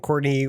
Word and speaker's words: Courtenay: No, it is pronounced Courtney, but it is spelled Courtenay, Enay.